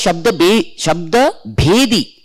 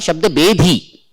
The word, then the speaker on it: Shabda Bhedi: It should be pronounced as Shabda Bhedi. It is not Shabda Bedhi.